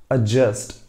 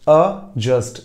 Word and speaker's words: adjust: लीजिएगा तो माफ कीजिएगा वहां पर डी साइलेंट जाता है उसे एडजस्ट नहीं कहते we call that एडजस्ट adjust, adjust, that is the sound. हम वहाँ पर D को sound नहीं रखते हैं, तो adjust होता है, adjust नहीं होता.